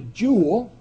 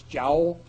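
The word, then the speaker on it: joule: Uh the international unit is the jewel or if you uh grew up in uh the British Isles uh they mostly pronounce this jowl. Uh but uh uh jewel I think is universally accepted here.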